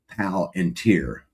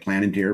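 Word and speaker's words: Palantir: For the greater good, they say packrat says pronounced pal and tier. Palenteer. Yeah, I say it plan and tear, but yeah, he is right. It's pal and tier.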